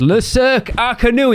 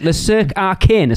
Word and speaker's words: Le Cirque Arcanu: When they announced it as Le Cirque Arcanu, he was like, they can't even pronounce it properly, what they're talking about. And I just wanted to go, what do you think it's called? Like Le Cirque Arcanus? Because I'll be honest, that's what I called it the first time. And I had a certain Mrs. Digenova reach out to me and go, that's not how you pronounce it, sir.